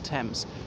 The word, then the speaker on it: Thame: or that's of the Thames really, and it's the same in most languages. There is a town called Thame, T-H-A-M-E, but it is actually pronounced like that.